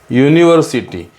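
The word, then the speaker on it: university: कारण जरी स्पेलिंग यूचं असेल पण उच्चार तर यचा आहे ना. युनिव्हर्सिटीमधला यू मधला य बाहेर निघाला ना, य काय आहे?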